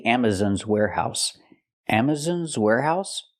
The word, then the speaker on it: Amazon: Amazon's Warehouse Amazon's Warehouse the word is not pronounced Amazon it's pronounced Amazon Amazon use the open Sound a on Amazon we cannot say Amazon it's Amazon it's important because this is a stress syllable Amazon we have a stress on the first and third syllable so it's important to pronounce them correctly Amazon Amazon's Warehouse example